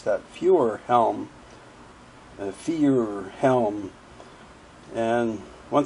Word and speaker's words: Feuerhelm: she s back yeah it's a few different ways but we just say fire Helm I wow that's easy